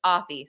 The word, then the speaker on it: Afi: criminal attorney and actually dizzy her name is pronounced aie so I just want to uh put that